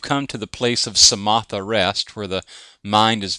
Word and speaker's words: samatha: and that is the samatha movement of meditation samatha is spelled just like samantha but without the n okay no n samatha and samatha is